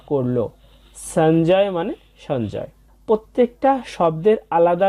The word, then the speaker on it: সঞ্জয়: বর্গীয় জ সহযোগে তাই এর উচ্চারণটা হবে অর্ধেক ন এর মত এবং বর্গীয় জ এর উচ্চারণটা জ এর মত হবে এবং শেষে আছে অন্তস্থ তাই হবে সঞ্জয় তাহলে আমরা দ্বিতীয় লাইনটা